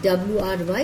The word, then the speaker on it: wry: W-R-Y is pronounced as wry.